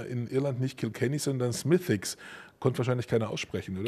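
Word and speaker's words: Smithwick: Die Familie, die Brauerei, das früher eine Familienbrauerei war unter der Familie Smithicks. Was ist sehr schwer auszudrücken. Vor allem ist es ganz anders ausgesprochen, als es geschrieben ist.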